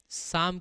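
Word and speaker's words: psalm: बताए बात करेंगे देखिए जैसे मींस किसी ने आपसे बोल दिया पी एस ए एल एम साम क्या होता है बेटा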